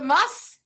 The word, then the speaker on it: musth: You're going to go with the must. And you are right. Somebody says the rut. Boom. You're not Thank you, Candy. Testosterone levels in an elephant in musk is spelled musth, by the way, you guys.